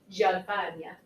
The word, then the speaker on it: Gianfagna: Because I spent 32 years as a Gianfagna. Rhymes with lasagna.